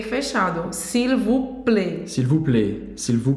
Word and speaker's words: s'il vous plaît: Então aqui os detalhes que a gente vê é s'il, a gente vai pronunciar o L, tá? Não é s'il, como em português, não, o L não tem som de U. S'il vous, não pronuncia o S, e o OU você já sabe a pronúncia.